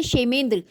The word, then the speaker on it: क्षेमेंद्र: right next we have क्षेमेंद्र इनमें case silent है क्षेमेंद्र इ इनका एसोसिएशन है